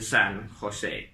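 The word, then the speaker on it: San José: to talk about, the San Jose. Spelt with a J instead of an H as I'm pronouncing it, and that's how the Spanish would have pronounced it.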